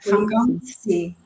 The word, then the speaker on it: vakantie: Corporatie, when we have the TEA at the end, the pronunciation is C. Like Like politie. No, vakantie.